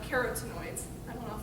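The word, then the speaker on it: carotenoids: got a lot of carrots noise that's the right way to say that but so a lot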